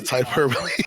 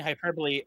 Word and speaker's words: hyperbole: where did I get the hold on all hyperboy where did I where did I get the